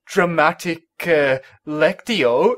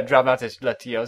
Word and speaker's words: Dramatis Lectio: Then again, this is dramatic Lectio, isn't it? Dramatis Lectio. Yeah, Dramatis Lectio. Sorry, I just said it wrong.